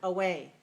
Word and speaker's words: away: how about this word away away how many syllables do we have in the word two syllables where is the stress the second one right so we small big away away small big right weak strong short long